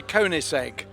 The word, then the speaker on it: Koenigsegg: I never know how to pronounce it though. It's a Koenigsegg.